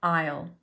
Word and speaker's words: aisle: row of shelves that aisle okay so three words for one fun pronunciation Isle